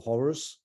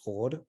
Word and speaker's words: Hor: Living on in Coptic is Hor. And of course, from Greek, we also know how it is pronounced. So that's Hor at this stage, or a little bit earlier, probably.